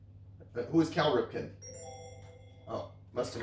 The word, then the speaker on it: Cal Ripken: who is Carl Ripken? Who is Cal Ripken? Oh, must have mispronounced the That's first it.